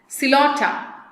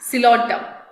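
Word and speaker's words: Psilotum: Coelotum. P silent. How to pronounce? Coelotum.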